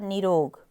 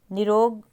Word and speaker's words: निरोग: की साउंड है श्रीमती उसके बाद निरोग निरोग रोग ठीक है निरोग नहीं होता निरोग उसके बाद क्योंकि क्योंकि